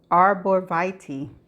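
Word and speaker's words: arborvitae: And this is how it is pronounced. Arraviti. Arborviti. One more time.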